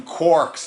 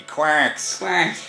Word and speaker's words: quark: amazing we pronounce them quarks now do you write the actual in terms of the joistian pronunciation would be quacks like a course I think it's